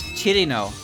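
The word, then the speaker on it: Cirno: I still get comments that are like, why do you pronounce Chirno as Chirno? Like, what is that pronunciation? Like, oh, you mean the pronunciation that English speakers use? Why, are you upset that I left out a syllable?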